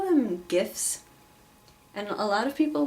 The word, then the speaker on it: GIF: argue that they're pronounced GIF like peanut butter but I call them gifs because the G stands for graphic and the sound the first sound in graphic is G so would be GIF